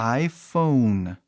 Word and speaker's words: iPhone: pelas pessoas um iPhone no inglês falamos iPhone por o e fica mudo e aí o vogal anterior o o somente o o Fala o seu nome aí a pronúncia vira a a porque Apple quis que seja a PH faz som de F né farmácia esse tipo de F ou n i aí você fecha pro n acabou entendeu e Igual eu